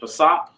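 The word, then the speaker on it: פסח: looks like a j it's pronounced Passat the word is Passat and it means Passover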